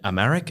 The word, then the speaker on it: Amharic: entire country and the legal system is in Amharic. Am I pronouncing that correctly?